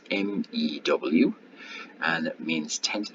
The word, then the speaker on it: mu: It looks like a U, but it's actually called mu, with pronounced MEW, and it means 10 to the minus 6 or 1 millionth, a fraction 1 millionth.